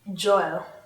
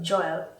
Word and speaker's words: Joel: Okay and then Joel. Joel? Joel. Joel. J-O- The first Noel, Joel. J-O-E-L? Yes. J-O-E- Joel. We pronounce that name as Joel.